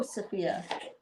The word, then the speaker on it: Sophia: Hello, Sophia. Sophia rhymes with Maria.